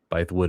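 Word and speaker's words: Bythewood: Bywood, it is offers this quote.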